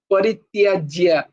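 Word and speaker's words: পরিত্যজ্য: তারপরে, হ্যাঁ, তারপরে শ্লোকটা হচ্ছে সর্বধর্মান, সর্বধর্মান পরিত্যাজ্য, পরিত্যাজ্য, দেখো তয় জফলা জয় জফলা আছে, তাই ওর উচ্চারণ হতে হবে এখানে একটা অক্ষরেরও, ইভেন যে মাত্রাগুলোরও উচ্চারণ করতে হবে এখানে।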